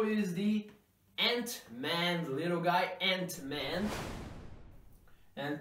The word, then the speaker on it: Ant-Man: the ant-man little guy ant-man and pronunciation here I want to tell you the hero that in American English actually this work and has the same sound of the word and and and in American